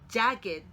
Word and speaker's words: jagged: jagged라고 발음합니다. 우리가 일반적으로 동사에 ed가 더해졌을 때의 발음 규칙과 다른 별도의 발음을 갖습니다.